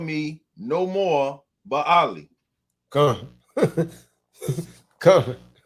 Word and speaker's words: Baali: call me no more Baali. Come. Come. Belly. They pronounce that belly.